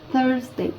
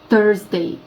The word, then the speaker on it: Thursday: Щоб легше було вимовити і правильніша була вимова, вам потрібно язичок свій поставити поміж зубами і легенько його притиснути. І у вас вийде Thursday. Щоб не було чітке Т. Thursday.